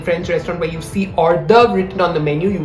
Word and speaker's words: hors d'oeuvre: Very commonly mispronounced. It's not hors d'oeuvres or anything of the sort. It's just hors d'oeuvre.